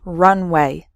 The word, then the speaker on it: runway: speed before taking off so the first word has three syllables run away and the second word has just two syllables runway completely different meanings okay